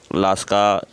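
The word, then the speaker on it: Lascaux: तो ये दो गुफा बहुत महत्वपूर्ण है, अल्टामीरा की गुफा और लास्का की गुफा। यहाँ लास्का दिख दिया, हालांकि है लास्की।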